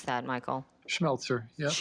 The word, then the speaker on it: Schmelzer: How do you pronounce that, Michael? Schmelzer. Yeah, that's correct. Schmelzer.